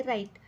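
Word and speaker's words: write: त्याच्या खाली अंडरलाईन करायची पहिला वर्ड आहे राईट राईट मध्ये डब्ल्यू चा उच्चार होत नाही म्हणून आपण त्याच्या खाली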